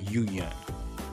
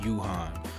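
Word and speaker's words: Yoohyeon: and his yu yun yu yun like gaiyan yuyun so her name is pronounced yu yun i was sayin yuhan so i really apologize for that like i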